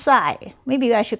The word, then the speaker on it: psi: Well, anyway, this thing I'm going to call it Well, call it phi or This is pronounced psi.